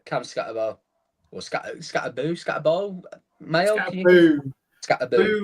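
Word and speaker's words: Skattebo: Scatterbo. Scatter who on their on their pronunciation guide on the official unofficial official official unofficial depth chart it says uh scatter abu two O's scat anyway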